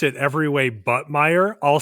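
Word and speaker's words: Meijer: I think they have them in Minnesota and I have gotten in trouble before because I have pronounced it every way but meer. I'll say major major.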